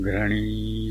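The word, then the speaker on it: घृणि: विकल्प के रूप में आप सूर्यदेव के वैदिक बीज मंत्र ओम घृणी सूर्याय नमः का भी उच्चारण कर सकते हैं। आपने घड़े के घ का उच्चारण करना है एवं इसमें र को मिलाना है।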